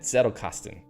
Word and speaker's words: Zettelkasten: The Z is more like TS. I'm trying to say it like that. Zettelkasten, right?